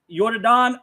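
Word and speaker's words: Yordan: Yordon Alvarez. Yordon Alvarez. That game. Jordan Alvarez. It's spelled Jordan, but with the Y in the beginning.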